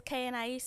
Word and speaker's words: KhaeAnais: My Instagram is KANAIS. It's KHAEANAIS.